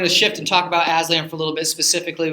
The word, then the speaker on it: Aslan: that particular Parish uh he pronounces it Aslan it's a Turkish for lion and he says of